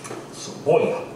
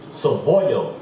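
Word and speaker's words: cebolla: Saboya. What a nigga. What a nigga. Saboya. Nigga. You didn't know that? Nope. Saboya? You've been doing reading lessons, right? And one of the reading lessons, they say Saboya.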